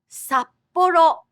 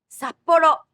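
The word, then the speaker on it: 札幌: doubled consonants, like in 札幌、札幌、北海道、北海道。 Listen to how there is a little pause with the double consonant. 札幌、札幌、北海道、北海道。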